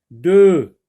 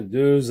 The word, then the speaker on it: deux: Deux, oui, ne se prononce pas quand le mot de est tout seul ou suivi d'un mot qui commence par une consonne.